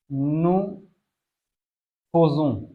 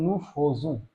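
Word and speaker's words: nous faisons: আতসিউ, এখানে অনেকেই আ ইয়ের উচ্চারণটা একার বলে, কিন্তু আ ইয়ের উচ্চারণ একার হইলেও এই একটা মাত্র জায়গায় যেখানে আ ইয়ের উচ্চারণ হয় ওকার, এই কারণে এটার উচ্চারণটা হয় নু ফোজু, নু ফোজু, নু ফোজু।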